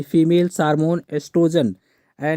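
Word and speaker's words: oestrogen: में सुजान निभाते है क्या ये साइलेंट होता है यहां पर एस्ट्रोजन ही पढ़ा जाता है ठीक है ओ नहीं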